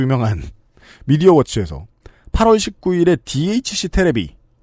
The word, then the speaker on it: 테레비: 변희재 대표를 유명한 미디어워치에서 8월 19일에 DHC 테레비, 이거 고유명사가 이러니까 테레비라고 읽어야죠.